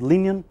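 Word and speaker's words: Liñán: So you have to pronounce it, I guess, as Linian, with all this tilde and a and this accent here.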